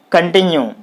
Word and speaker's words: continue: c o n con so the stress should be on the second syllable what is the second